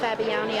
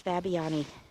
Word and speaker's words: Fabiani: I hope I'm now pronouncing this correctly. I'm sorry that if I was mispronouncing things earlier, and I believe I was, having listened to the dedication and heard Mrs., I believe it's Fabiani, speak.